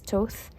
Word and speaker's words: Thoth: notice that they do have like it's actually pronounced as Thoth, the Thoth feel, and I googled that.